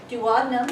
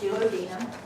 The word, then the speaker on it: duodenum: the small intestine are the dadum sometimes pronounced duodenum junam pretend you're talking